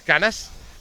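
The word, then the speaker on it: Cañas: guy Juan caros canas which is the right way to pronounce canas okay uh he will is like Robert B not battle B and then now it's canas uh Juan Carlos canas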